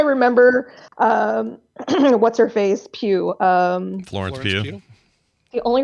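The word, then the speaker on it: Pugh: know how I remember um what's her face Pew um Florence PE the only reason I know how to pronounce her name now is because she does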